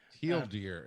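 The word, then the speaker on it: TL;DR: Teal deer is how it's pronounced.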